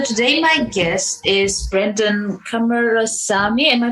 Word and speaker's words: Kumarasamy: So today my guest is Brenden Kumarasamy. Am I pronouncing that correct? You got it, Kumarasamy.